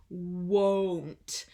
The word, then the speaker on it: won't: same pronunciation for won't make sure you are opening your mouth for the Oh sound won't so tonight I won't